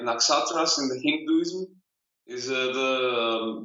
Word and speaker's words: Naxatras: Well, we call ourselves Naxatras. Oh, see, that is so much cooler. Naxatras. Yeah, so. Most people call us Naxatras, and it's not wrong. It's just like another way to pronounce it.